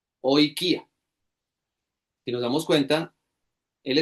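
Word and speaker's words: οἰκία: De nuevo, se escribe como una comilla con curva hacia la derecha y no se pronuncia como la palabra oikía. Oikia.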